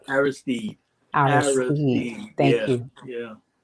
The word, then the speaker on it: Aristide: Haitian former president, um, and I'm going to pronounce this, John Bertrand Aristide? Aristide, Aristide.